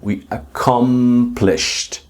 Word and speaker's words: accomplished: A I understand because you can see the D, but you need to debug the pronunciation and start to pronounce with the T.